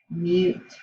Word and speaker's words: mute: that you must and when i add that silent e it kicks that vowel you and makes it say its name so that word will change and instead of saying mutt it is now used mute so today we're going